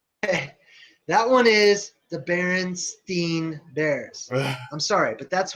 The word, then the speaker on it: Berenstain: all ears and it's definitely berenstein okay not baron stain that's ridiculous that's crazy oh god he's so sure of that it was just our all our parents didn't care enough about the proper pronunciation that they all just went most familiar they went like berenstain that sounds weird like they were like